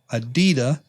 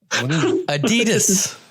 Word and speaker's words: adidas: box he gives me is a pair of adida adidas adidas if you got you're gonna be a sneaker head you gotta say it right what'd i say adida adidas yeah well i read it upside down serenity